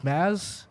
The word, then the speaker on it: Mads: I wish that I got a chance to hear It's not actually pronounced Mads, right? It's Maz.